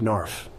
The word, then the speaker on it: knarf: Okay, I had the word narf with a silent K at the beginning.